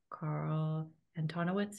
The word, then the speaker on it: Carl Antonowicz: It's been so thrilling having Carl Antonowicz here.